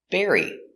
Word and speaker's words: bury: to bury his bone pronunciation bury the dog wants to bury his bone B air bear bear e berry berry berry like strawberry Berry burying in the continuous